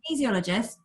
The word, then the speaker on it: kinesiologist: And the way you remember how to say it, by the way, my brother told me once, he says, I can easily make people feel better. Love that. I'll never forget it now.